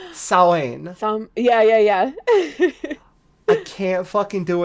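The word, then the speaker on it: Samhain: Well, it's spelled Samhin, and it's pronounced like Sawen.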